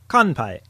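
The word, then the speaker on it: 乾杯: And in context, here is the word for cheers in Japanese, which uses the nasal sound: kanpai.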